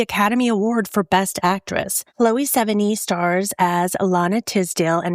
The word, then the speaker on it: Chloë Sevigny: I called her something completely different because I always thought you pronounced it Chloë Sevigny and I understand now that I was very wrong. So, just let me know if I said it right this time. I went to Google, I did a pronunciation. I looked it up. He said, you say Chloë Sevigny.